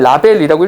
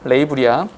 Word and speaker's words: label: 이거 제발 라벨이라고 읽지 마세요. 레이블이야.